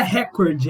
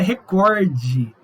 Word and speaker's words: recorde: Não é recorde, é recorde. Então, assim, gente, tem muitas palavras que na nossa prosódia a gente pronuncia de maneira errada.